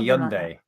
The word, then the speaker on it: Hyundai: were right he owned a right it's a young day Nick go to google translate its Hyundai this